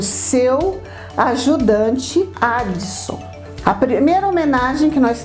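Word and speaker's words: Adso: A pronúncia Addison em italiano é muito próxima de Watson.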